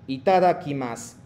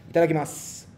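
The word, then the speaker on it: いただきます: Entonces, omaji cuando terminan U, no pronuncia. Finales de U, no pronuncia. Como si itadakimasu, no es como itadakimasu, no, itadakimasu, como que desapareciendo hacia la final.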